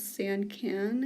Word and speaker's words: Sancan: I found this one on Amazon, and the brand for it is Sancan, I think is how you pronounce it. It's S-A-N-C-A-N, in case you wanted to look it up.